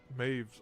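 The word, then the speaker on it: Medb: Unlike humans, that one of Maeve's army's defining characteristics. She despises humans and won't even use them in combat against Moors. Oh, Med B is pronounced Maeve.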